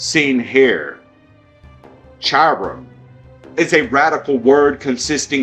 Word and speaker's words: Hiram: Hiram, not Hiram.